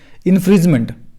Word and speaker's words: infringement: इन्फ्रिजनमेंट जब भी मैं कहता हूँ, इन्फ्रिजमेंट इसका सही प्रोनाउंसिएशन क्या होगा? इन्फ्रिंजमेंट कॉपीराइट का।